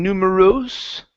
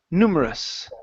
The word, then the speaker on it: numerous: at the very end instead of saying numeros with an o sound okay it's always going to be us numerous numerous numerous numerous good